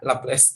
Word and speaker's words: Laplace: Serah sih maksudnya logat mana bacanya gitu, tapi bacanya Laplace, tulisannya gini.